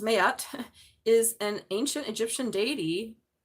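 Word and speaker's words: Ma'at: So, Mayat, pronounced Mayat, is an ancient Egyptian deity associated with truth, harmony, and balance.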